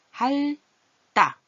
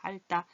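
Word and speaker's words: 핥다: 할따. 얘를 어떻게 발음하지? 자음끼리 겹쳐서 더 힘이 트 발음보다 드 발음이 더 보통 소리가 발음하기가 따 이렇게 말해서 할따.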